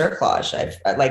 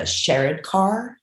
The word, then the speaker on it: cerclage: And then there's another one that, to my understanding, is a bit more invasive, and it's a cerclage. Pretty sure that's how you pronounce it.